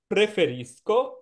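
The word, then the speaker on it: preferisci: হয় প্রেফিস ইল কাফে প্রেফেরিস্ক উচ্চারণ হবে প্রেফেরিস্ক ইল কাফে ইল কাফে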